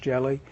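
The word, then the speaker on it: Ge(Li): “Ge-Li”s, yeah, pronounced “jelly,” were used before high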